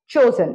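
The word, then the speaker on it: chosen: form चूज चूज चोज चोजन इसको चूज मत कीजिएगा थर्ड फॉर्म चोजन है मैं चुनचुन के वर्ब्स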